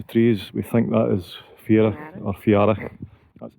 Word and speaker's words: Fiarach: Just before it hits the trees, we think that is Fiarach or Fiarach. That's Fiarach.